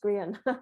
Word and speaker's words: Grehan: It's Grehan. It's pronounced Grehan.